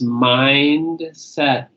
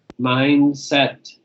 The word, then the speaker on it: mindset: Next one is mindset, mindset. Make sure you put, yeah, make sure you put the T on the end of that, because I won't know what you mean if you say mindset.